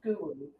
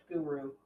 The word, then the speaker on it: guru: Oh, Guru. why am I not Guru. surprised? Oh, what was that? It's pronounced guru.